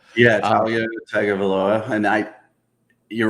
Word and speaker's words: Tagovailoa: Tagovailoa. Yeah, Tagovailoa, and you're right.